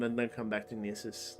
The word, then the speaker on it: Gnisis: I think Yeah, I they think it's pronounced Nissus.